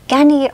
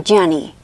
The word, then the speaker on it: Ganni: Ganni or Gianni or Gianni? No, there's no I. Ganni.